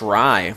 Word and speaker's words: Rye: It's pronounced Rye, just like the bread.